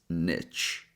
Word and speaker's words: niche: So option one is niche.